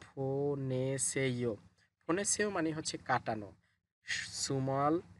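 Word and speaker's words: 보내세요: ফোনেসেইয়ো বিউপ শব্দের শুরুতে আসলে ফ হবে, তাহলে উচ্চারণ হবে ফোনেসেইয়ো।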